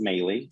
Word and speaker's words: Melih: My first name is Melih. My last name is. In other words, it's spelled Melih.